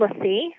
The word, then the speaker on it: LaCie: It's called LaCie. It's spelled LACIE.